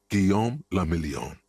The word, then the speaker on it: Guillaume le Million: For Revachol, your city, that meant only one thing: Guillaume le Million. If it doesn't rhyme, you're not pronouncing it right.